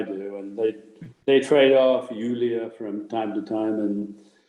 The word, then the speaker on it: Julia: It's spelled as Julia, but in German it's Julia, as though it were a Y-U-L-I-A.